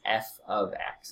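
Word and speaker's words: f(x): X so this is f of X is how you pronounce it and then again all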